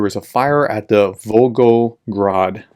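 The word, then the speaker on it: Volgograd: a fire at the vulgo grod I pronounce that right thank you for the comments um because I called it vrad before but vrad oil Refinery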